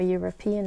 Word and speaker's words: European: For example, even though a European is spelled with an E, you have a J sound, which is a consonant sound, and therefore you should have the indefinite article a.